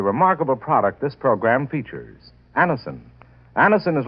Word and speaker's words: Anacin: Anison is spelled Anacin.